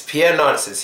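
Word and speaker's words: Pierre Narcisse: the video clip you just saw was a Pierre NIS I can't say his name for but it's Pierre naris he's a black guy who was very popular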